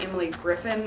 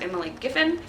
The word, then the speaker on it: Emily Giffin: for last month that i was saying her name wrong the whole time i kept saying emily griffin and her name is emily giffin so i also didn't